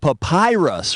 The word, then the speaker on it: papyrus: That old Egyptian paper stuff is called papyrus, which rhymes with the pie pus.